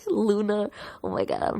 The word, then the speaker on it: Loona: And then they'll post a gif of them dancing, like Luna. Oh my god, I don't know how to say her name. It's Loona.